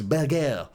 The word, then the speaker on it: Berge: him by the way the way Burnley announced him struggling to pronounce Burger it's Burger um but from Sheffield